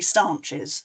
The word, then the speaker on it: staunches: Actually, I'll also tell you, I'll probably forget which way to pronounce it because it's sort of spelt staunches, which probably means staunching the flow. But people pronounce it locally stanches, so I might do either.